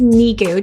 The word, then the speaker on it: Nikou: today we're with mrs niku did i say it right oh first name is niku just think of my knee i'm a little cuckoo